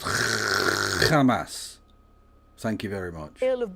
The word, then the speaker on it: Hamas: It's pronounced Hamas.